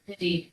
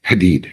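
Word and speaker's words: Hadied: H A D I E D and it's it's pronounced hated Hadid. Hadid.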